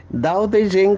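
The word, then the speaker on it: Tao Te Ching: दाओ दे जिंग करके एक चाइनीज बुक है, अभी उसका स्पेलिंग है टीओ, लेकिन प्रोनाउंसिएशन में वो दाओ दे जिंग कहते हैं।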